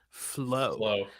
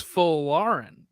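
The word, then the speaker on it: Folarin: So yeah, It's also Folarian. Yeah. U.S. men's national team said like their post about it on Facebook was just flow. It's not flow, right? No. It's Folarian.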